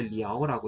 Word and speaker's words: 了: 이거는 이제 노래에서 보통 이제 러 대신 이제 리아오라고 이렇게 보통 발음하는 경우가 많아서 그런 거고요.